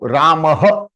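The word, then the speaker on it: रामः: So Ramah. Ramah. So this is the way it is spelled in IST.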